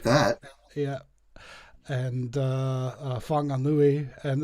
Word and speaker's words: Whanganui: And Whanganui, and they're all spelled with W's and H's for some reason instead of an F.